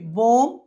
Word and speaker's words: bomb: whenever we find a word ending with MB, B must be a silent letter. Generally the B is a silent letter. COMB కూమ్, BOMB బోమ్, TOMB tomb ఇలా చూసుకోవాలండి.